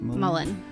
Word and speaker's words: mullein: Catnip, skullcap, rose, and how do you pronounce that? Mullein.